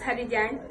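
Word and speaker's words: Haddy Jagne: My name is Hadijan and it is spelled as HADDY and Jan is spelled as JAGNE.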